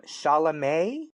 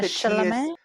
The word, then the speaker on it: Chalamet: Chalamet. Yeah, Chalamet. I think the Silent. T is silent.